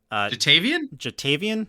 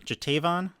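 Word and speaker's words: Ja'Tavion: How do you pronounce his name? Jatavian? Jatavon.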